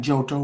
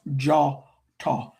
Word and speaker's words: Djôtô: or it looks like jotto but it's pronounced jawto the o is an a sound and dj in west Africa languages DJ or DI or DW is pronounced with the J sound.